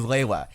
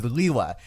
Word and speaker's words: Lewa: In Generation 1, the canon pronunciation was Lewa. In Generation 2, the canon pronunciation was Liwa.